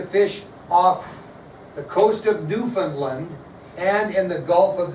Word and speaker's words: Newfoundland: That's Newfoundland, if you want to spell it.